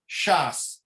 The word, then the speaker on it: Shas: It would be Shin Samach, which is Shisha Sidre, and it's pronounced as an abbreviation Shas.